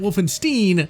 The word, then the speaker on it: Wolfenstein: You see, back in the old days, we called it Wolfenstein, not Stein, and to spare your ears, I will continue with the proper pronunciation.